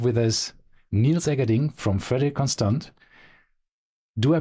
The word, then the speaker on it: Frederique Constant: today we have with us Neil zering from freder conand do I pronounce the the brand name correct is that